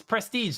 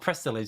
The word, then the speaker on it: Prestige: long and then go oh it's prestige not prestilege because there was like that's where the spelling was off so i